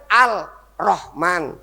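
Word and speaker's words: الرحمن: kenging alhamdulillahiabbil alamin arrahman tulisannya kan arrahman nggih kanjeng nabi bacanya arrahman lah n ini disebut alhamdu n di sini baca alhamdu di sini kok dibaca arrahman lamnya hilang itu kan syamsiah nek alqamar nek alhamdu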